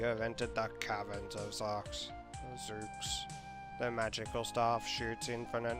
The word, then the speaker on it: Zeux: You entered the labyrinth of Zeux. So I'm gonna say Zeux because I always pronounce this MegaZeux. I bet it's Zeux, like Zeus.